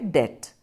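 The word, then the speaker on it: debt: है उसी तरह से एक दूसरा शब्द है डेथ अब दैट है इसकी स्पेलिंग है डीबीटी लेकिन प्रनंसीएशन में हम बिलकुल साइलेंट रखते हैं इसलिए आप देखेंगे जो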